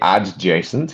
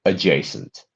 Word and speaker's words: adjacent: Don't say adjacent because we don't pronounce the D there. We say adjacent.